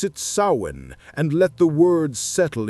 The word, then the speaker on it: Samhain: And at the heart of their spiritual calendar was a festival that would echo through the millennia: Samhain. Samhain. Pronounce it Samhain and let the words settle in your mind.